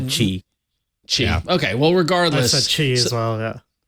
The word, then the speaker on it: Qi: So, Jason, as you're doing the rundown on the doc, I was cursing you because I can never pronounce QI wireless chart Qi.